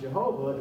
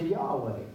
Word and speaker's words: Yahweh: Well, now they discovered that that's not the correct way to pronounce the Hebrew letters that were originally pronounced Jehovah. It's closer to Yahweh.